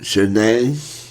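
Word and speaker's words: Zhané: Okay, in at number 6 is Zhane, pronounced Zhane.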